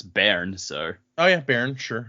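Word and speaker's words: bairn: I've decided to give your baby is B A I R N. And that's Baron.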